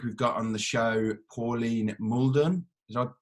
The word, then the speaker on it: Pauline Mouldon: uh this week we've got on the show pauline muldon did i pronounce that correctly yeah yeah good good um